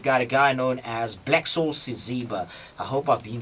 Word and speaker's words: Blacksoul Siziba: Today in studio, we've got a guy known as Blacksoul Siziba.